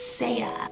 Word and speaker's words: Sia: name saya which is spelled s-e-a so it looks like c but it's saya sia means of the